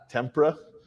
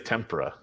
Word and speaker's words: tempura: me for the Tim how do you say it tempera oh it's not a kind of a fish apparently it's tempura tempra I don't know